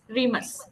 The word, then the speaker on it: Remus: Okay, you will pronounce it for me. Remus.